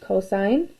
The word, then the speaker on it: cosine: hypotenuse and so now cosine is abbreviated as cos again still pronounced cosine of theta is equal